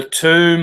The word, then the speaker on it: tomb: everywhere time Thun Thun why the silent B because it's alluding to wound mm-hmm the tomb of the womb that's